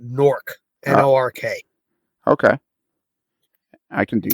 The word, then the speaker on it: Newark: than we are and you don't call it Newark you call it nork lrk okay I can